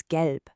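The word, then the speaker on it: gelb: Next is gelp. Make sure you have that hard G sound like in get.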